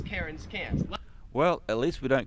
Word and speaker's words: Cairns: The Australian accent just leaves the R off if it's ever in the last syllable of a word. So you would pronounce Melbourne, Melbourne, and you would pronounce Cairns, Cairns.